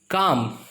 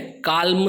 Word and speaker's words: calm: Okay, तो L silent है। काल्म तो हम बोल ही नहीं पाएंगे। फिर बाम जो हम लगाते हैं, बाम, और पाम यानी हथेली।